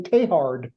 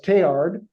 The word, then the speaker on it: Teilhard: tayhard's name I mean if you listen to a French person say his name after the T there's no consonants it's just tear but